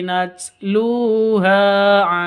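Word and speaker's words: نتلوها: tanda berdiri tilka ayatullahi natluha Alaika natl Ha lu panjang dua harakat karena ada wau sukun diawali dengan Dom domah ha juga panjang dua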